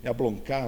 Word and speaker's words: Jablonka: Bom, essa virada, nova virada realista no âmbito da arte, como a denomina Jablonka, é assim que pronuncia o nome dele? Jablonka, os franceses falam assim, recoloca em cena, com